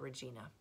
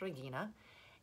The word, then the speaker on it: Regina: his wife Regina and in English we would press at Regina but in Latin it's pronounced Regina and he's good friends